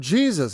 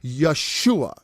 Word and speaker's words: Yeshua: And you're like, Lord Jesus. And he's like, that's not my effing name, all right? Why don't you say my name right, dude? Okay, it's Yeshua.